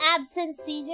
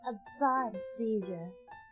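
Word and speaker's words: absence seizure: is called the petite Mall yay it's Not absent seizure it's of sun seizure it's pronounced thank you so this is mistaken for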